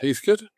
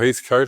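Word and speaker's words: Heathcote: from by the way I'm saying Heath Coat and you sound to be saying Heath how are you pronouncing this? Heathcut. Heath Heathkut okay or Heath Coat. It doesn't matter that both of them are acceptable.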